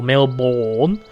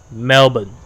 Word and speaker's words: Melbourne: really bad habit of calling it Melbourne or male born its Melbourne Melbourne Melbourne drop the are and just say Melbourne almost like silent art treat it like a silent are you know how those